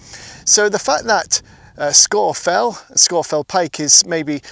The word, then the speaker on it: Scafell: Google how to pronounce Scorfell and you will find that Google gives you the correct pronunciation. The one I'm saying is correct. Scorefell.